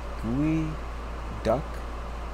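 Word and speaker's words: geoduck: It's actually pronounced Gooey Duck, and of course is related to the bird.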